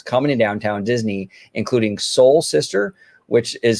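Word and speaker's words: Seoul: from leevy restaurants coming to downtown Disney including Soul Sister which is spelled SE o l is Korean um Sip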